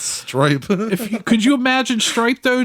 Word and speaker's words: Stripe: But like, could you imagine if, like, Strape... Jeez, I can't fucking talk. That's the third time you've gotten his name wrong, brother. It's Stripe.